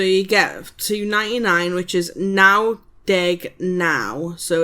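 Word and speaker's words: naw: That's W Y T H with nine is now. N A W now.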